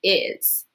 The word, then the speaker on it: is: I look at it, the S is actually going to make a Z sound. Go ahead and think of a sentence. What is a sentence that I could use for is?